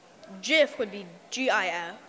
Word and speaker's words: GIF: boat the second question is it pronounced gif or Jif definitely jiff I'd have to say